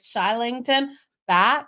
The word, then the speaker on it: Kylington: back K okay so it's spelled kylington it's said more like shington back he's a Swedish Hockey